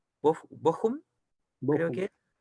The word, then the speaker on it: Bochum: Aquí me va a tener que ayudar, por favor, con la pronunciación. Bochum, creo que es. Bochum, sí.